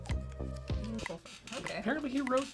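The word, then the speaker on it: Eoin: It's Ian. Oh, it's pronounced Ian. Ian Colfer.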